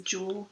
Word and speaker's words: dual: two lanes is a jewel carriageway I'm surprised that they pronoun pronunciation of duel I'm surprised at yours okay there we go